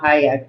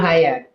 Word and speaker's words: Hayek: been Selma Hayek. I Oh, don't she said remember. it. My girl here in DC just said it, Salma. Well, how you Yeah, pronounce it? Hey, Selma Hayek.